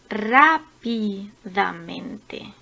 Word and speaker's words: rápidamente: Las palabras sobreesdrújulas, como rápidamente. Rápidamente. Esta palabra tiene la sílaba tónica a partir de la cuarta o la quinta sílaba. En este caso es en la quinta.